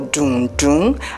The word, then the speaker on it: dundun: of fried yam or dundun as it is pronounced in yerba Bon Appetit did you